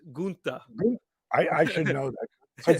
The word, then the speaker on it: Gunther: So the German pronunciation is Gunther.